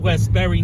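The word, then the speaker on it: Westbury: you shouldn't go to it rhymes with mold vest Berry and it's in old Westberry New York don't go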